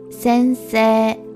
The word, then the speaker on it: 先生: 先生 The final character is e, but this character is not pronounced, and instead we pronounce the vowel sound in se as a long vowel sound. So it's 先生 Lastly, we can create